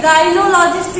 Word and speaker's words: gynaecologist: गायनिएको, देखिए गायनोलॉजिस्ट ही पढ़ा जाएगा लेकिन गायनिएकोलॉजिस्ट लिखा जाएगा।